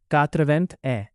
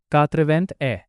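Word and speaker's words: quatre-vingt-un: इसीलिए 81 का फ्रेंच में प्रोनंसिएशन होगा कातवेंथ ए। तो बोलिए कातवेंथ ए नंबर 82 अब 80 में दो जोड़ते हैं।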